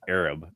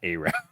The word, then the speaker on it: Arab: It's actually pronounced Arab, not Arab.